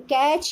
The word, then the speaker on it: catch: In catch, you see T is silent.